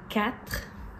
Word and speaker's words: quatre: On fait ça avec des mots comme quatre. Quatre, c'est dur. Quatre. Un, deux, trois, quatre.